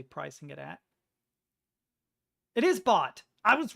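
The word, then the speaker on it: baht: I have no idea what 3,890 bot translates as in Thailand currency. I'm pretty sure it's bot. That's how it's pronounced.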